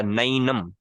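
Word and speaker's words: नैनं: जैसे नैनम नहीं होता, नैनम, आई। नेनम नैनम नहीं होता, नैनम, आई। अब ये सुनने में थोड़ा सा हह, जैसे लोग कहते हैं शहरों में रहने वाले ना, कुछ लोग कहते हैं गांव का गंवार है। सुनने में हो सकता है थोड़ा थोड़ा वैसा लगे, ये भैंस, नैनम। लेकिन रियल प्रोनाउंसिएशन यही है संस्कृत की।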